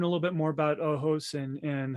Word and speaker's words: ojos: on the Spanish word for eyes which is Ojos and pronounced Ojos so I didn't want to correct